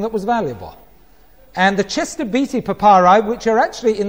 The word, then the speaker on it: Chester Beatty: Chester Beatty. Right? That's how you should pronounce that, Chester Beatty.